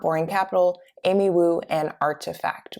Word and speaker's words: RTFKT: capital amy wu and artifact which is spelled rtfkt which recently was acquired